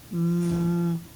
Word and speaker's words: mute: Mute.